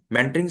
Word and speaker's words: mentoring: Pronounce mentoring with the correct stress on the first syllable.